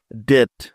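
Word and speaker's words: debt: নিয়মটি হল টি এর আগে বি বর্ণটি থাকলে ওই বি এর কোন উচ্চারণ হয় না। তাহলে চলো এই নিয়মের কিছু উদাহরণ দেখে নেয়া যাক। যেমন ডিই বিটি ডেট ডেট।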